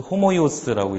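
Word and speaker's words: ὅμοιος: 맨 처음에 있는 게 호모이오스, 닮은 이런 형용사인데, 오 위에 이렇게 표기가 돼 있잖아요. 그리고 여기 이제 액센트고, 그래서 호모이오스라고 읽고, 그 다음에 있는 건 이제 뒤에 바로 나오겠지만 복모음이에요, 복모음.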